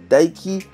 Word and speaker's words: Tayc: patronyme juillet moi 'j'ai tyke qu'il faut prononcer daiki né au coeur de